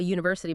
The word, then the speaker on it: university: They mention little rules like a university because of the Y sound. Right. It starts with a consonant sound, not necessarily the letter.